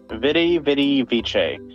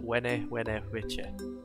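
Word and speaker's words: vidi vici: Vidi Vice. And I get to be a Power Wolf album cover. Hell yeah! It's pronounced Wene Vice.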